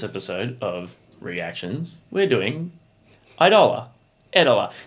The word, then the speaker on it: Eidola: of reactions we're doing idola ettola did we work out how to pronounce that last time i think it's idler idler yeah yeah cool we